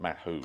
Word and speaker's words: Mahou: anyone got any flakes that's Mato apparently you pronounced that Mato Spanish um beer and